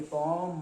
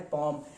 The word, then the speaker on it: palm: पॉम मतलब, पॉम मीन्स होता है PALM, साइलेंट है पॉम।